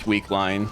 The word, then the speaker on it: Wickeline: Yes, Dr. Naja pronounces this Weakline. I refuse to pronounce it that way, so I'm going to keep calling it Wickeline.